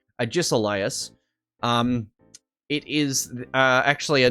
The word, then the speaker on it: Agesilaus: Or Ages Silas or something. Now, the way you pronounce that is Agesilaus. And if you look at it in a written format, you can actually pronounce it. It's Agesilaus.